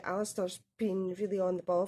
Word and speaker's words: Alistair: Although my son's name, his full first name is Alistair, a lot of people think it's pronounced Alasdair because it's spelled Alasdair, but it's actually the Gaelic spelling, and it was maybe meant to be.